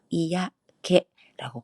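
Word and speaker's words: 嫌気: 그리고 개는 기분의 기자를 쓰는데 이때는 개라고 발음을 하고요. 이야 개라고 발음을 해요. 기가 아니라 개라고 발음을 합니다.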